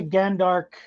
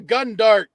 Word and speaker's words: Gundark: What is a Gandark? I'm not going to penalize you for mispronunciation, but it's a Gundark.